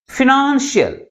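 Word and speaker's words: financial: second one ఇస్ ఫైనాన్షియల్ ఎన్ని syllables ఉన్నాయి దీంట్లో త్రీ సిలబుల్స్ ఉన్నాయి ఆ త్రీ సిలబస్ లో ఏ సిలబుల్ ఎక్కువ ఫోర్స్ గా పలుకుతుంది సెకండ్ సిలబుల్ మిగిలిన సిలబస్ కంటే ఎక్కువ ఫోర్స్ గా పలుకుతుంది that's why the primary stress is ఆన్ the second syllable అంటే ఏదైనా ఒక పదము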